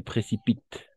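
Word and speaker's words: précipitent: Et précipite. D'accord. Précipite. Estas, E-N-T. N-T al final no pronunciamos.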